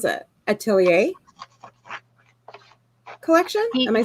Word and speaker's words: atelier: german living in america i can't pronounce it atelier collection am i saying that right muted himself uh yeah i think it is art correct atelier say it again oh so i did say